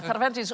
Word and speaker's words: Cervantes: No, Cervantes was a buying agent for the Spanish Armada. Very good pronunciation of Cervantes.